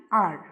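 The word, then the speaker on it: hour: से देखिए यहां पर एन आर में एच ओ यू आर इज the spelling of आर ये स्टार्ट तो एच से हो रहा है लेकिन एच साइलेंट है। जब हम उच्चारण कर रहे हैं तब ओ यू आर यानी आर का साउंड आ रहा है।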